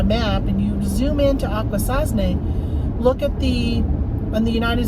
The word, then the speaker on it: Akwesasne: They go Akwesasne.